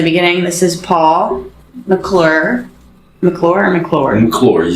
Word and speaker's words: McClure: McClure, you said it right.